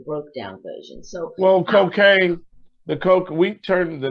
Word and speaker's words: Kokane: the ghetto or you call cocaine no but we turn it around and spell it k-o-k-a-n-e that means when you hear cocaine funk you are going to get hooked but